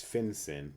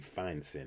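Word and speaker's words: fin-syn: And the last major change was the financial interest and syndication rule, sometimes known as FinCEN, but really would be FineCEN if you're pronouncing it right.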